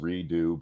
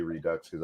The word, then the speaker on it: Redux: is Redux it's actually I know it's pronounced redo but I say reduxes I think it's funny